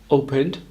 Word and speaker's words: opened: Opened also has a soft d at the end, like it was spelt O-P-E-N-D.